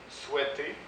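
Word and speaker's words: souhaitent: mes terminaisons sont normales je ne prononce pas les terminaisons donc souhaite souhaite souhaite souhaitant souhaite souhaite voilà pour le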